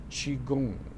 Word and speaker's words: qigong: this is to study qigong or qigong and it's spelled different ways q-i q-o-n-g or g-o-n-g chi goon and it's a chinese therapy that is based